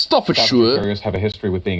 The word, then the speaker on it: Staffordshire: you American Staffordshire because an American would say Staffordshire but that's definitely not how it's pronounced stuff for sure have a history with